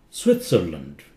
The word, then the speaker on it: Switzerland: sounds like f Oxford Switzerland Switzerland T is pronounced it's not silent Switzerland you see it's